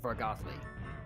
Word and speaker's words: Vargothly: I pronounce it Vargothly. Vargothly.